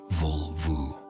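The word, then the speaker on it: völva: The vulva, pronounced vulvu.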